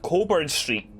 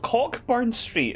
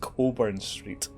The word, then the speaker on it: Cockburn Street: on a street called Coburn Street, which is spelt Cockburn Street, but it's pronounced Coburn Street.